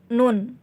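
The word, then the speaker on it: ن: ini menjadi Naya Hai huruf nun ini pengucapannya mirip dengan huruf lamp Hai tadi kan huruf lam saya jelaskan itu bagian lidah naik ke atas begitupun ketika kita mengucapkan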